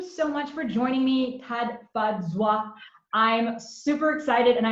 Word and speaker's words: Tafadzwa: So the name is Tafadzwa. Tafadzwa. So I pulled it out for the pronunciation, but it's Tafadzwa, which is a Shona name from Zimbabwe, which means we've been made glad.